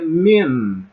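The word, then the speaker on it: מִן: O outro exemplo seria min. Min, porque tem um num final, ok?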